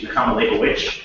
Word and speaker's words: Nechama Leibowitz: Actually, Nechama Leibowitz is how it's pronounced.